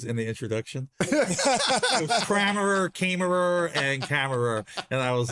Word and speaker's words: Kammerer: The pronunciation of your last name. Oh, it's Kammerer.